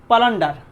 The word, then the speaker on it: পালান্ডার: Marketplace theory পালান্ডার। উচ্চারণটা পালান্ডার বা প্লান্ডার বলা হয়।